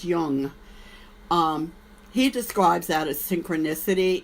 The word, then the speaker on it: Jung: It's spelled Jung, but it's pronounced Jung.